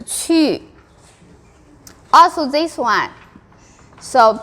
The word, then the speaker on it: 去: But the rule is 机七西 and e, if with u together, u will automatically pronounce ü with 2 dots.